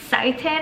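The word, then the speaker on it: seitan: Legumes, you can lean on beans, lentils, tofu, tempeh, edamame, sitin, I think that's the way you pronounce it, eggs if you eat them, right?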